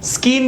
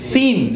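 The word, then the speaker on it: scene: સ્કીન નથી, સીન.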